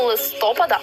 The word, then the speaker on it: листопад: Прийшла із західноукраїнських земель звертаємо увагу наголос падає на останній склад жодного листопада в українській немає правильно